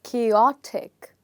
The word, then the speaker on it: chaotic: will say this as chaotic chaotic so what's happening is the stress in the word is changing from the first syllable to the second syllable okay like this we